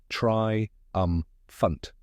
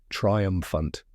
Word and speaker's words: triumphant: Correct pronunciation is try-UM-fant. Let's break it down step by step. First, try, like when you try something new.